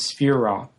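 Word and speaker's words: sefirah: They're called spirro in Hebrew. The singular pronunciation is spher.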